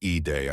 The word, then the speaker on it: Eid: The first word is pronounced Eday.